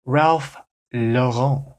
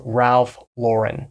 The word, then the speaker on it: Ralph Lauren: and a little bit French and they'll say Ralph Lon Ralph luren Ralph luren this is getting a